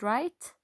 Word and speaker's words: write: Again, can you see the word write? Right here, the W is silent.